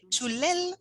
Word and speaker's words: Chulel: So now we move on to enter the Chulel world. The pronunciation has like a stress, like an accent. It's like a ch. The ch is stronger than we would pronounce it.